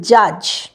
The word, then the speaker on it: judge: সেটা হচ্ছে প্রথম ওয়ার্ডটা দেখতে পাচ্ছেন জাজ, JUDGE। তাই এখানে ডিটা তো আমরা প্রোনাউন্স করি না, তাই না? আমরা কি বলি? জাজ। তাহলে ডিটা কিন্তু প্রোনাউন্স হচ্ছে না।